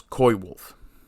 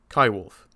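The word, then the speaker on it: coywolf: they're known as now David Suzuki mispronounces it as koi wolf no if you're going to say coyote you say Kai wolf and I do my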